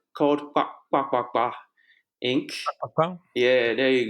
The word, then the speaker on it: kpakpakpa: My business called kpakpakpa Inc. Wow. Yeah, there you go. It's not so hard. For some people, the pronunciation is hard, so we just call it KPA.